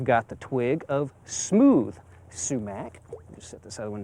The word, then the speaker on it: sumac: fall color are the sumacs. Now, some people may pronounce it shumac or shumake, but generally sumac is more accepted.